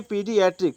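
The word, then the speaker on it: pediatric: तो ए ई का उच्चारण होता है दीर्घ ई, क्या होता है, दीर्घ ई। जैसे देख लो पी ए डी आई ए टी आर आई सी, तो उसको कहेंगे पीडियाट्रिक। क्या कहते हैं, पीडियाट्रिक।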